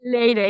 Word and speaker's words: Leyre: Leyre, is that how you pronounce it? Leyre is perfect.